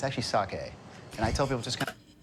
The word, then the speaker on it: sake: doesn't exist everything say s a Ki it's not it's actually sake and I tell people just kind of slur your words sake so the more you drink the better you are pronouncing sake the word actually means